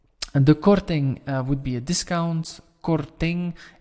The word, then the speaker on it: korting: And the korting would be a discount. Korting, N and G you will pronounce as like in English, like wing, sing, king, thing, and so on.